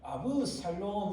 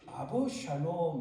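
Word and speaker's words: אבשלום: 2절에 보면 계속 압살롬이 뭐였는지 나옵니다. 압살롬이 일찍이 일어나. 자, 여러분, 압살롬의 히브리어 단어는요, 정확하게 발음하면 아브살롬 이렇게 하는데, 아브는 나의라는 뜻이고 샬롬의 평강이에요.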